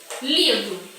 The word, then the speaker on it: livro: Vamos dar um exemplo aqui da palavra livro. Quando eu falo a palavra livro, qual é a sílaba que eu falei com mais intensidade, com mais força?